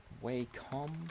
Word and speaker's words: Wacom: you can get Wacom Wacom is the best way calm that's how you pronounce that's how you spell